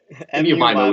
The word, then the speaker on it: MU-MIMO: MU-MIMO. MU-MIMO is how it's pronounced.